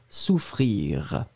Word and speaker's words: souffrir: Moi, je le prononce sous, hein, donc vraiment le ou, très très rond, frire, r. Souvenez-vous, le R final, il est jamais très très fort, il est juste là, r, souffrir.